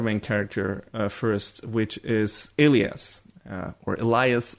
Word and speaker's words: Elias: But let's talk about the other main character first, which is Elias, or Elias. I don't know, the show, in the show he's pronounced Elias. So I'm calling him that.